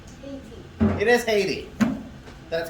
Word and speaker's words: Haiti: How do you think it's pronounced? Haiti. It is Haiti.